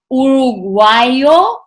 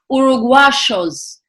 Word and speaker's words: uruguayos: accent these countries have instead of saying uruguayo or uruguaya or uruguayos they call themselves uruguashos so me as a